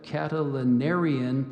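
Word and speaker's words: Catilinarian: in the back row Mr markestad suspected a catalanarian plot to overthrow him as president of the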